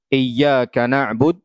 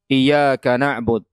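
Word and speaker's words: إِيَّاكَ نَعْبُدُ: dapati hal itu misalnya harusnya dibaca dengan tasdid iyaka na'bud dia tidak membacanya dengan tasdid iyaka na'bud itu baru hal yang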